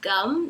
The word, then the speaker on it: gum: O momento que eu descobri que eu tava pronunciando errado foi com os adolescentes que eu cuidava. Ele me ofereceu gum, né, chiclete, e acabou que, como eu não tinha muita noção ainda da distinção dos sons, eu respondi com um som parecido com gun. Ele riu um pouco e falou, não, Tamires, a pronúncia é assim.